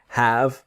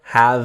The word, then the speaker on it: have: is the idea of have and a noun so the pronunciation is have never have V or in fact this the e is silent so have but when